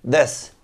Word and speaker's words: this: parte de la fonética esta th va a sonar más como d más que como t Entonces si pronuncian como una d ya están bastante cerca una D en medio de los dientes this no es tampoco this